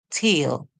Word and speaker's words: tail: In this word, we hear the E is silent, so it causes the vowel that comes before it to call its name. We hear A. This word says t, eel, t, eel, tail.